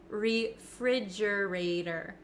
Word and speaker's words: refrigerator: how I pronounce it refrigerator refrigerator refrigerator now the ater the T at the end of this word it becomes a flap te in American English that means it kind of